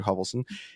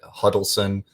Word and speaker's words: Hovelson: for your listeners um everyone mispronounces hubbleson a lot of times there's D's and as in dogs that Huddleston holverson hovelsten and I'm like literally you can look at the spelling none of those letters are in there yeah